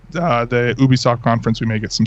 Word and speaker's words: Ubisoft: um like uh the Ubisoft conference we may get some stuff it's Ubisoft not Ubisoft is it yeah according to Ubisoft according to Ubisoft it's Ubisoft not Ubisoft same I could say the